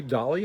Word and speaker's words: Dahle: state senator Brian Dahle da h le da li i believe it's pronounced we're not like Los